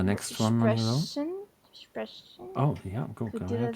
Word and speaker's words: sprechen: You say it like sprechen. Sprechen. And, your tongue is quite far forward. And if you do sprechen, it's pulled downwards a little bit.